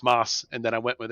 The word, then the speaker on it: Moce: candidate is that his name is in fact moss what why did you choose a bizarre spelling